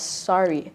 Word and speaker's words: SRE: question for you is I know your name is spelled s-r-e so it kind of sounds like it's it's straight or like yeah straight but you prefer uh for people to pronounce it as sorry yeah what's the story